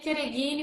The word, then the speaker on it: Chereghini: Na verdade, se pronuncia Chereghini, mas ninguém fala, eu também não falo, então a gente tá tudo certo.